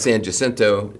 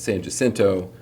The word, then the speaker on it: San Jacinto: It's not San Jacinto, it's San Jacinto.